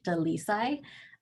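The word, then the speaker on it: Dalisay: And before I do, I'll just, for the record, because I know this is being recorded, my name is pronounced Dalisai.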